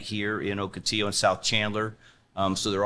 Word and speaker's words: Ocotillo: it's Octitillo. I Okay. presume that's a Spanish pronunciation of it.